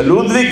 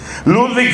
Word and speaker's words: Ludwig: el apellido ferach se escribe feuerbach feuerbach se pronuncia ludwig feuerbach ludwig feuerbach es un filósofo que escribe sobre la